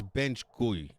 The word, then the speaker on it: BenchGuy: BENCHGUY. Well, that's bench guy. Well, it's bench gui. It's like French apparently.